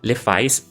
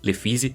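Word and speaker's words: Lephise: Durante o confronto, uma mulher chamada Lefis ou Lefise, depende de como você quiser pronunciar, é sequestrada.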